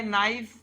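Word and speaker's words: knife: आला पाहिजे पुढे आहे नाईफ के सायलेंट आहे बर याच्यामध्ये के सायलेंट आहे नाईफ नाईफ म्हणजे चाकू शेवटी काय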